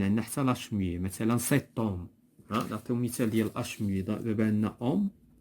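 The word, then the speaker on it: cet homme: دونك كاين عندنا حتى لاش muet، مثلا سيتوم. نعطيو مثال ديال اش muet. دابا عندنا اوم، هادي اش muet، دونك كنقولو سيتوم.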